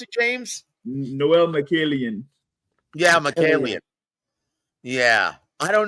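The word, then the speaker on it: Mikaelian: How do you pronounce it, James? Noel Michaelian.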